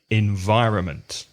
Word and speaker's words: environment: the first thing is remember that there's an N in environment because you don't really hear it do you it's e n VI R o n M ent environment environment so let's look at